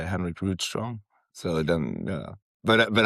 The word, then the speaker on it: Rydström: Henry in in Swedish. Henrik Ridto cuz the official pronunciation that he sent out was Rid.